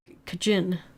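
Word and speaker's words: Cajun: No, they have they had a a really specific way of saying it and it was basically like kajin or something like like it sounded like a but you know slightly different.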